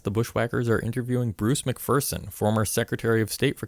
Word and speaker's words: McPherson: say it uh it's mcpherson uh there's no fear in mcpherson that's good and then